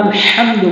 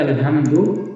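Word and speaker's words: الحمد: মাঝখান থেকে উচ্চারণ হয় তো এখানে যখন আমরা আলহামদু বলবো তখন সঠিক উচ্চারণ হবে এবং অধিকাংশ লোক যেটা বলে থাকে আলহামদু সেক্ষেত্রে নামাজ ভঙ্গ হওয়ার সম্ভাবনা রয়েছে লিল্লাহি আসসালামু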